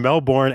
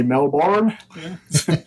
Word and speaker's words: Melbourne: pretty good Mike um I always love the way Americans say Melbourne we just say Melbourne Melbourne I I can't say it that way Melbourne Melbourne okay it's like Mel you know so yeah